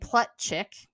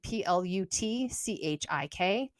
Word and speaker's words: Plutchik: But so there's this guy named Plutchik. I think that's how you say his name, Plutchik.